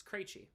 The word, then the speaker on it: Krejci: I'm like, oh, it irks me when people say the name wrong or say the name of the way I don't the way I don't say it. You know, Krejci. Oh, Krejci. Or Krejci. Yay. It's Krejci.